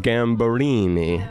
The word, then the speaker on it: Gambarini: Sunday it is Roberta gamble Eenie how am i saying that you're doing great perfect prevent that everybody in